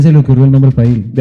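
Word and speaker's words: Pyle: P-Y-L-E, entonces se pronuncia Pail. Pail, ajá. Pero nosotros dijimos, si le ponemos así, en agradecimiento a él, Pile va a decir.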